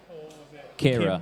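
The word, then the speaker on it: Ciara: Tiara? Kira. Kira. That's it. No, it's... Oh, it's yeah. spelled with a C.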